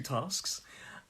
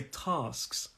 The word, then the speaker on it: tasks: And this is obviously the plural, so 2 tasks. And something really interesting about this. Now, I mentioned there's the north and the south of England. And my pronunciation is quite southern in this one. I say tasks.